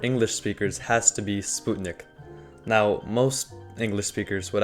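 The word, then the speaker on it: спутник: at least for English speakers has to be Sputnik now most English speakers would actually pronounce this as Sputnik but yeah the real pronunciation is Sputnik and it literally translates to just satellite so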